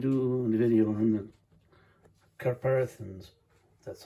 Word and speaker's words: catharpins: Well, today I'm going to do a video on the Catharpins, that's how it's pronounced.